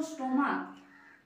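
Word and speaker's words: stomach: যেমন স্টমাক স্টমাক মানে কি? পাখস্ত তৈরি। তাইতো? এখানেই এর উচ্চারণ কি হচ্ছে?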